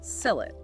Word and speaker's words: Sylhet: So it was known as Shrihhata way back and over time the pronunciation just sort of evolved into sell it.